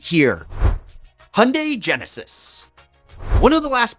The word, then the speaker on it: Hyundai: Hyundai Genesis. One of the last brands that you probably think of, and you shouldn't, is Hyundai, which rhymes with Sunday.